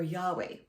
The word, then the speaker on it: Yahweh: excuse me umwa or Yahweh but in the original Hebrew it was pronounced as a breath sound so it's oh so